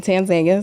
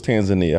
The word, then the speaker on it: Tanzania: Because I thought it was Tanzania. How you say it one? The people actually over there say Tanzania. I feel like people in America say Tanzania.